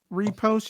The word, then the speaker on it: riposte: Repost.